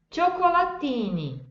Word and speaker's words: cioccolatini: Cioccolatini, cioccolatini. Viram a diferença? Eu tenho aí no primeiro, na primeira sílaba, que é o ti, que é o CI, e depois eu tenho o TI, que é ti.